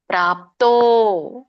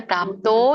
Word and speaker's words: ಪ್ರಾಪ್ತೋ: ಆಗುತ್ತೆ ಸಿದ್ಧಿಂ ಪ ಮದ್ಯಂ ಪ್ರಾಪ್ತೋ ದೀರ್ಘ ಇದೆ ಪ್ರಾಪ್ತೋ ಎಳಿಬೇಕು ಯಥಾ ದೊಡ್ಡ ಥ ಇದೆ